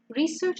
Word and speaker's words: research: Because if you have the exact same word with 2 syllables used as a noun and as a verb, the stress changes. So the noun public transport or research shows is stressed on the first syllable, okay?